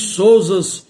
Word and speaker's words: Souzas: Os souzas e os raposos, vogal fechada é por fia. Aqui nesse caso, em relação a esses nomes próprios de família, nesses quatro casos mencionados, o não muda o timbre, ou seja, não sai do timbre fechado para o som aberto, permanece no mesmo timbre, o timbre fechado.